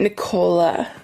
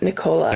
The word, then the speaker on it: Nichola: Nicola. It's actually, you can say it Nicola. Yeah. Nicola. Is that the actual proper way you say it? That's the official, Nicola.